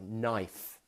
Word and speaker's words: knife: And there's words like knife. Now the knife is what you use in the kitchen to cut with, but it begins with a K. But we don't say the K sound.